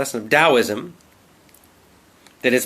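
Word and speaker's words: Taoism: spiritual system from China it's spelled with a t but pronounced as a d d this confuses native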